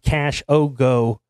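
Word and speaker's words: Khashoggi: Adan casii called shabab Cash Yogi can canoun uh pronounced cash oo by whatever that means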